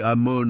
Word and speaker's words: Amon: Allen, spécialiste de la langue égyptienne ancienne à l'université de Yale confirme le mot égyptien Amon et prononcé Amon avec une emphase nasale et phonétiquement identique à l'hébreu Amen prononcé amen.